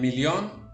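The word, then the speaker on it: million: general no se pronuncia en millón lo mismo regla de pronunciación doble l suena como una l bien esas son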